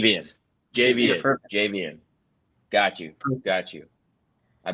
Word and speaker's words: Javian: Um, and my name, I'm sorry, by the way, my name is JVN. That's how you pronounce it. JVM. JV. Javian.